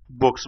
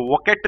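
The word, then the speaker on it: bouquet: ई टी वके मतलब इसको वोकेट नहीं बोलते हैं मैं खुद गलत बोल रहा हूं इसको बोलते हैं बोके बोके ठीक है ना और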